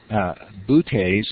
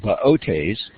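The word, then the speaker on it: Boötes: Now, I've always pronounced that as Butes, and it's called Baotes, and it's the herdsman.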